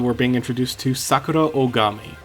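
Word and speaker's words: Ohgami: Much like how Mondo's last name, Aada, was spelled with an O at the beginning in the anime, uh, Sakura is is the same way. It's spelled O H G A M I.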